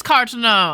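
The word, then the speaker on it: Carteneau: It is Cartano. I was pronouncing it right.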